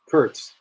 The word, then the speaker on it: Kurtz: Curts.